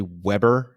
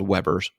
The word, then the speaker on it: Weber: I believe it's actually Weber in English. That to me looks like it should be Weber. In German, it would be Weber, but yeah, I think these are called Webers.